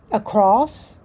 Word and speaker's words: across: So, across, I think people put a T on it sometimes, across, athletic, preventive, grievous, umbrella.